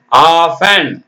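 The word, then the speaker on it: often: பாருங்க டிக்கு சத்தம் இல்லை ஓ எப் டி என் ஆஃப்டன்னு சொல்லக்கூடாது ஆஃப் ஆஃப் அப்புறம் கிளிசன் இக் லி இஸ் ஏ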